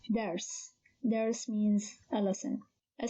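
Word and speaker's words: درس: This word consists of three consonants, dal, ra, sin, and only the first consonant is moved, which means it has a haraka, here fatha, so it is pronounced as only one syllable, dars.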